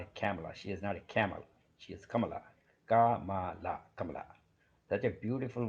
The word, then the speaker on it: Kamala: do not know how these Americans do not know how to pronounce Kamala just like our first lady they twisting her name any old way possible um they used to call Camala she was not a